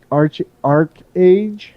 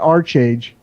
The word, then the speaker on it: ArcheAge: I played Diablo 3 a little bit, but I dropped the 150 on ArcheAge. Let's just get this straight. It's not ArcheAge, it's ArcheAge.